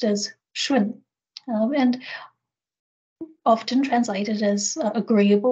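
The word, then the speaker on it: 順: relates to the next word um which is pronounced as shwin and often translated as agreeable or harmonious you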